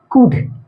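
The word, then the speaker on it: could: एल साइ होता है जैसे कुड वुड है ना यहां पर एल साइलेंट है यहां पर भी एल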